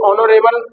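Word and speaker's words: honourable: ऐसे ऑनरेबल person, ऑनरेबल person में S silent है इसलिए एन आएगा।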